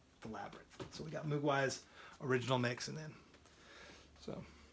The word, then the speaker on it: Mogwai: We got Mugwai. I like pronouncing it Mogwai because that was the name of the Native American Indian from Last of the Mohicans, right?